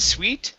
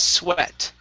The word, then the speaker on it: sweat: This word here, instead of sweet, the word is sweat.